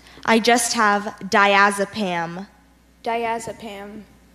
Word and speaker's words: diazepam: is correct that's number 16 your word is diazepam diazepam can I have the language fortune diazepam